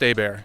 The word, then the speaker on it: Hebert: Spelled Hebert, pronounced Auber. Auber. Auber with an H. Yes, correct. It's a It's a It's a French name. It's Auber. It's Americanized French pronunciation.